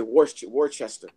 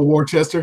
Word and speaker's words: Worcester: How do you pronounce that shit? I would say Worcester. Oh, Worcester, hell yeah.